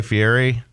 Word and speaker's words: Fieri: the likes of Guy Fieri yeah it's Fieri you got to pronounce that right oh my gosh well